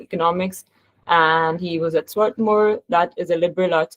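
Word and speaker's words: Swarthmore: political science and economics and he was at Swartmore that is a liberal arts college. Sorry if I mispronounced the university though. Did I That's completely right. Sworthmore.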